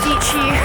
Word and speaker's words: Dietschy: What's up guys my name is Sarah Dietschy, rhymes with peachy I live in New York City.